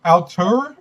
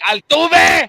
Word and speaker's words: Altuve: Something about Jose Altur. I think that's how you say his name. You mean Altuve?